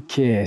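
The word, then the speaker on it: Keir: starma by the way I can't think of any other male name that rhymes with tear other than Kier so he has of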